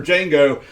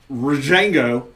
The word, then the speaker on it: Django: is silent for Dr Django so when the D is silent it becomes rajengo okay I'm not sure